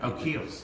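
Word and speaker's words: Kiehl's: And No, it's the it's like the I don't know how you pronounce it. Kales. Keels.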